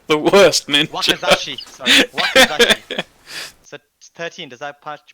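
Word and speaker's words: wakizashi: Okay, so I will do my Wakazaku. You need to learn how to pronounce the weapons that you're using. Yeah, So absolutely. that's 13. You're like the worst ninja. Wakazashi. Sorry, Wakazashi.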